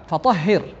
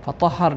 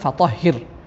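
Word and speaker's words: فطهر: ওয়াসিয়াবাকা ফাতাহহির, এবং তোমার কাপড় পরিচ্ছন্ন করো। দুঃখিত, গত আয়াতটি উচ্চারণে ভুল হয়েছিল, ফাতাহহার না ফাতাহহির।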